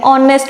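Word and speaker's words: honest: वो wall sound होगी क्योंकि एच यहां पे साइलेंट हो जाएगा और साउंड जो है ना वो ओ की आएगी ऑनेस्ट मैन नॉट नेस्ट okay ऑनेस्ट ऑनेस्ट का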